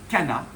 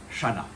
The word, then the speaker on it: Channa: Voilà pourquoi on dit kana et pas shana.